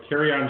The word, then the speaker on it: Kerryon: Speaking of pronunciation, I actually like that you said, Kerryon Johnson. Kerryon Johnson. I fly once in a while, so it's easy to remember.